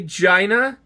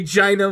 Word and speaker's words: Gina: G-I-N-A, Gina. G-I-N-A? Yep. Gina? No, it's pronounced Gina, thank you.